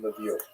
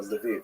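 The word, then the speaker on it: Lviv: So this is in the western part of Ukraine not too far from Levie or Leviv as it's pronounced now.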